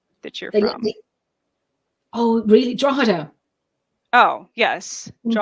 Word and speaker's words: Drogheda: it's spelled I listened so many people are saying georgita I was gonna say I I want to say like drog Hita yeah you know um